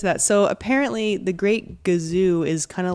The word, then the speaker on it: Gazoo: First of all, it is gazoo. All my life, called him the Great Kazoo. I've been saying kazoo, but I remember seeing it spelled, and it was spelled with a G. Yeah. But I think I thought it was just pronounced kazoo.